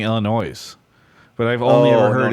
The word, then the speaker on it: Illinois: tiny town okay and you don't pronounce the yes right uh no I I do I don't know maybe some old folks it's French Travis it's Illinois I thought no but